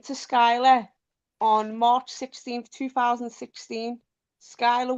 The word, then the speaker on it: Skyla: So on March 16th, 2016, I legally changed my name to Skyla, spelt the same way that it's the first pronounced.